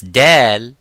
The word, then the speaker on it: Dal: Now, when we pronounce Dal, Dal is an empty mouth. It is not Dad.